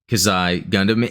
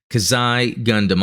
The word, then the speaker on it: Xi Gundam: And I just the other day got myself the Robot Spirits Kazai Gundam, and if you watched or listened to the last podcast, I learned how to pronounce it properly.